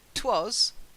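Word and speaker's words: 'Twas: the night before Christmas it helps because it was two syllables twas one syllable it helps the flowing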